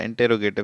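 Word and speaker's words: interrogative: Next है हमारा इंटेरोगेटिव sentence, जिसको आप इंट्रोगेटिव सेंटेंस भी कह सकते हैं। दोनों प्रोनाउंसिएशन करेक्ट हैं, जो भी आप करना चाहें आप कर सकते हैं।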